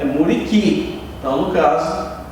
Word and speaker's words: muriqui: Porque no muriqui o som do U não é pronunciado. Ninguém fala muriqui, é muriqui.